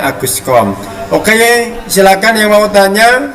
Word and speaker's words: Auguste Comte: Saya ingatkan untuk membaca nama Auguste Comte itu yang benar Aguscom ya, dibacanya Aguscom.